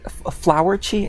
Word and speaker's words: Furawatchi: I don't know why it's uh I don't know why it's spelled furi when it's actually supposed to be flowerchi. It's flowerchi.